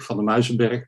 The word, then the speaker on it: van der Muizenberg: My name is van der Muizenberg, pronounced in Dutch.